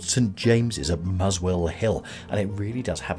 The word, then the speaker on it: Muswell Hill: Mossa or the mosella until the 1950s the town's name was often pronounced muzzle Hill in the 18th century